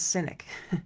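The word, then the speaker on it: Sinek: his last name is cynic s i n k which sounds like c y n i c syic another one is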